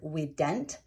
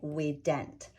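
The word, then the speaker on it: vident: or in the word we dent and yes it is a v-i-d-e-n-t and i say it with a w because that is how it is pronounced in latin we would say we dent so here we have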